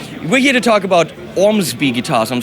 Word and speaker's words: Ormsby: about that anyway we're here to talk about Ormsby guitars I'm saying that correctly it's one of the brands that can actually pronounce yeah that's correct yes bombs by ohm